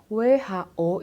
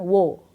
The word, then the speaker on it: who: Kemudian kita punya who, WHO itu bacanya who, bukan wo, tapi bacanya who.